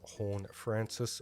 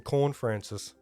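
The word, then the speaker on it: Horne-Francis: And Jason Horn-Francis, or who's that? Jason Corn-Francis, as a commentator pronounced his name on the weekend.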